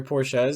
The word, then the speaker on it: Porsche: gonna say people that have But- Porsches or Porsches say, "Oh yeah, it's a the Porsche." way the company's pronounced in German is Porsche.